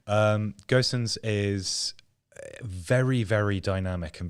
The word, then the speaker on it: Gosens: the other um and gerson's is we're going to get into one of these pronunciation spirals it's okay we got it right now um gossens is very very dynamic